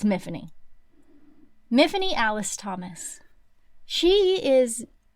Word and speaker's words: Myfanwy: It goes on to say the body is called Miffany, which is it's not how you actually say that name, and it is mispronounced, and they even call attention to it in the book, but it is Miffany, spelled Myfanwy, but it's Miffany.